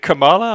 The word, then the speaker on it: Kamala: it's Kamala this time you pronounce it Kamala I'm I'm surprised pronounced it camela Isa or camea camea chameleon show you how much